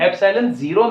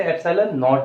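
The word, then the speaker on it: epsilon naught: ठीक है, और ये जीरो है नीचे, इसे एप्सिलॉन जीरो नहीं कहते, इसे एप्सिलॉन नॉट कहते हैं।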